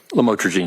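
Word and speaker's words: lamotrigine: about the u the lamel otherwise known as lamatroine. Did I pronounce that right? Lamotraine.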